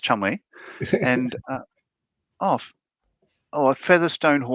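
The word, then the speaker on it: Cholmondeley: Pronounced Chumley and uh oh oh featherstone pronounced Fansaw.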